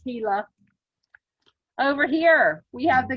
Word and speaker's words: Gila: gila river starts with a g but it's pronounced gila over here we have the green river we